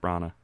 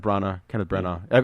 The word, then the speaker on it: Branagh: Yeah, I have Kenneth Branagh. Kenneth Branagh. Either way, Yeah. I've heard the G is silent.